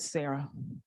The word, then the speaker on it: Sarah: Say it. Era. Rhymes with Sarah.